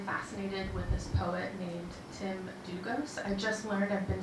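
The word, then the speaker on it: Tim Dlugos: with this poet named Tim Dugos. I just learned I've been saying his name wrong for 20 years, like last week. The L is silent.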